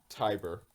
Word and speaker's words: Tiber: what were the numbers i might not be pronouncing the last one correctly i'm gonna say tiber you would be correct yes brock has 500